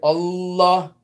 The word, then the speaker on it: Allah: So it's not like we read in English, Allah, Allah, Allah. No. It's all, you hold the lamb, Allah, Allah.